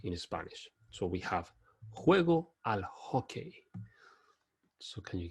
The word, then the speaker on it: juego: The J in Spanish will sound juego, as opposed to the usual pronunciation of J as in John in English. So always when you look at that J is juego.